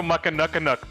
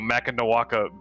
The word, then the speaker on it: Mackinac: And I said, I'll take one of those, and I said it wrong, and I was chastised for saying it wrong. It was Mackinac beer or whatever, and So she got her money's worth out.